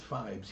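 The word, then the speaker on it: Phibes: um Fly no correct it's pronounced fibes yeah I know here's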